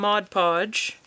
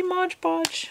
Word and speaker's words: Mod Podge: going to use some mod podge i said it right that time i didn't see modge podge which i always say i said mod podge and all i'm gonna